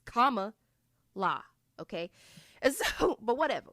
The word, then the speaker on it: Kamala: Like it's very easy. It's comma la.